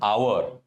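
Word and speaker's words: hour: एच जो है वो साइलेंट होता है। अन आवर जो साउंड आ रहा है that is a vowel sound.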